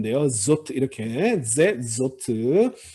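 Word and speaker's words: זאת: 자, 이 알레프에 아무런 모음표가 없으니까 묵음 표시입니다. za인과 탑만 발음하시면 돼요. zot 이렇게.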